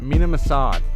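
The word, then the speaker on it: Mena Massoud: ezra and braun they potentially found them and mina massad that's how you say his name assad has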